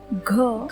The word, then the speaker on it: घ: इसी ग को जब आप महाप्राण में उच्चारित करोगे तो यह बन जाएगा घ। आप यहाँ पे देख सकते हैं कि जीवामूल से इस वर्ण का सही उच्चारण किस प्रकार से किया जाता है। घ घ घ घ घ घ। ग और घ इन दोनों वर्णों में एक ही अंतर है, और यह अंतर प्रयत्न का होता है।